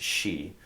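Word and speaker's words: 四: The number 4 obviously can be pronounced in two different ways, yon, but it can also be pronounced shi.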